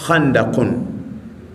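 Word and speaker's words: خندق: Sisi kwa kiswahili tunalisema haandaki lakini kiarabu chenyewe inatamkwa handakun. Watu wa lugha wanasema wanalitafsiri ama wanalitolea taarifu neno handak.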